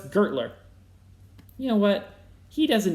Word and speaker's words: Gertler: companies linked to gessler is it kessler no it's gertler you know what he